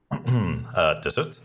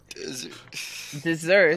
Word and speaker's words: dessert: Desert. Desert? Pause. Dessert. Nice. You mean dessert.